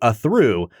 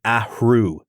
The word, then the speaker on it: Athrú: HR so it's like ahu you have this nice like wind escaping your mouth as you say it Brad I am rambling